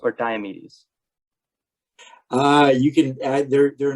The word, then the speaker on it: Diomedes: I've heard it pronounced both ways, Okay. and there's arguments for either way. Hmm. I pronounce it Diomedes, Okay. but actually had conversations with people who pronounce it Diomedes, Hmm. and Sure. I I like Diomedes, but Yeah. I'm not going to argue with anybody if they pronounce it slightly differently.